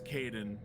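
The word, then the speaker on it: Kaidan: Look, I know he's not important, but his name is Kaden. At least pronounce it right.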